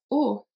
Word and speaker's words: aux: It's going to be AUX, but it's pronounced O as well.